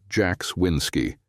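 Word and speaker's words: Jaxwinsky: start from the beginning my name's Jax winsky pronounced Jax winsky most people call me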